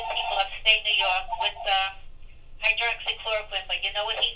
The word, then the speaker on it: hydroxychloroquine: The chloroquine, hydrochloride, or whatever the Hydroxychloroquine. How did you pronounce that? Pronounce that for us. I thought it was hydroxychloroquine.